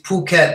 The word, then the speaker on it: Phuket: for Freddie Phuket yes it's spelled with an H but we don't pronounce it it hi all right